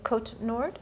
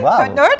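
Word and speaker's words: Côte-Nord: Describe like you're growing up in Kot Nord. Yeah. K. Say it right. K Nord.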